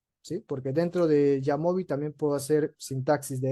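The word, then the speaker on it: jamovi: El el software es así, Yamobi, Jamobi se escribe, ¿sí?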